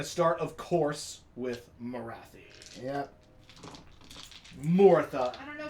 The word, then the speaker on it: Morathi: Because Morathi rhymes with wacky. Wacky? Or taffy, which are things that are all totally inappropriate. Morathi sounds much more like King Arthur kind of fantasy.